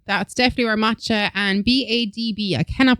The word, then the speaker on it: Badb: That's definitely where Matcha and Badb. I cannot pronounce that name for the Say it again. five. Badb. Badb. Bod. Bod. Okay. I don't think you pronounce that last B. I think it's just bod.